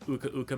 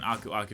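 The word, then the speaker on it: Aku Aku: each time we get an ukauka mask or an uaku depending on how you want to pronounce it uh it gives us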